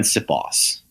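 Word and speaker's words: Siposs: So, how do you pronounce the punter's name? Aaron Sipos. Oh, okay. Yeah, it's pretty phonetic.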